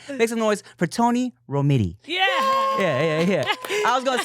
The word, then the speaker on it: Romiti: Romiti. Yeah, Romiti. Yeah, I always tell people it just rhymes with titty.